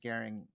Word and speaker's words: Gehring: uninitiated this is Garing am I pronouncing Garing right yeah okay um I've known you